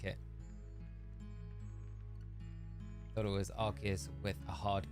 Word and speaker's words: Arceus: Thought it was Arceus with a hard K sound because of Sil Valley's Arceus system. Arceus. It is Arceus because it's not Arceus.